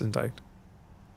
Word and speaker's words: indicted: Is it indicted? I think that is indicted. Oh, no. It's indicted.